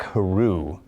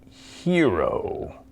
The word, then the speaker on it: Haru: Munsen was in my classroom during attendance and he looked at me and said you know his name is pronounced Hiro right honestly I had